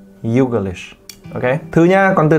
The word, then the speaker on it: Youglish: You xong g xong lish. Youglish.